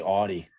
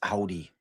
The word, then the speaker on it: Audi: It's like how I mispronounce Audi. I say Audi. Allison's like, it's Audi.